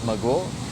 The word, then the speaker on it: Majagual: And It's pronounced weird, man. You want to try and do it? Let's do it. All right, so it's something like a cat, like majagual. Majagual.